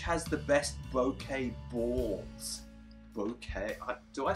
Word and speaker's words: bokeh: Bokeh?